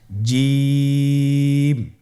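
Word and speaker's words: جيم: জিম হরফটি বারিক হরফ, এটা উচ্চারণ করতে হবে 3 আলিফ টেনে। দেখুন আমি কিভাবে উচ্চারণ করছি, আপনারা আমার সাথে করুন জিম।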